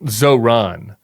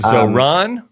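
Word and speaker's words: Zohran: And why do you say it Zoron? I I think it's Zoron. Is it where do you put the emphasis on? I think you're putting the emphasis on the wrong syllable.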